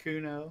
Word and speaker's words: Cuno: Two syllables, they all scan the same. Yahweh, Popeye, Cuno.